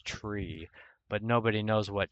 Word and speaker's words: trie: You know, TRIE, it's actually tree, but nobody knows what tree you're talking about, so people started calling it try.